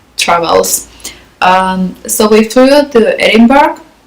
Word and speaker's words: Edinburgh: So we flew to Edinburgh, or Edinburgh as the locals told me to pronounce it.